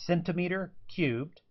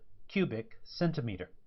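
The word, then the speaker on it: cm³: So you can pronounce this abbreviation as centimeter cubed, or much more often, it's called cubic centimeter.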